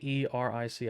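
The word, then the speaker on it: Aeric: nope he is just a wizard named eric and eric spelled a e r i c i don't really know how to say it i decided on the spelling before i decided on the pronunciation so i'm just going to say eric um eric yori and eric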